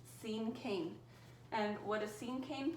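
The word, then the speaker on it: cinquain: an interesting word to pronounce but it is pronounced same king and what a scene cane poem is is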